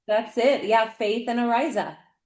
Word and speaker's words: Araiz: singer Amy Faith and um guitarist Mike um Arza. Am I saying that name right, Mike? Yeah, Arisa.